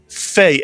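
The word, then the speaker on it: פ: And if you take a dog out of the pay, it's still a pay, but it is pronounced fe as an F.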